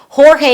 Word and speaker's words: Jorge: Jorge is the original pronunciation of his name.